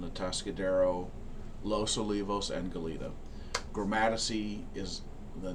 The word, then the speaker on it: Gromatici: an office in Atascadero Los Olivos and Goleta gramatisy is the name of my company gourmaticy land surveying in Latin it's pronounced chromatiki because the sea has a k sound in